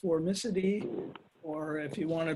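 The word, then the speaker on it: Formicidae: end in the ida ending so this is pronounced formicity or if you want to be real latin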